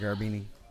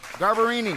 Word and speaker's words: Garbarini: Nice work, Raina Garbini. Good tap. Garbarini. I said it wrong twice again.